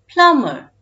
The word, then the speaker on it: plumber: is the word plum the letter b is silent in it when we add the letters e r at the end of this word it becomes plummer plumber good work now let's